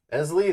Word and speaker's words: Eztli: Eztli, that's it? So I just have to think of Leslie. Ignore the T. Ignore the T. Elsley. Eztli.